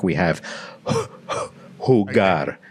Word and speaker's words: jugar: Can you see that g? It's a really hard G.